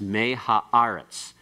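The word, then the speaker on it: מֵהָאָרֶץ: The primary accent here still occurs on the syllable that has the aleph and the qamets. So it's me ha'aretz.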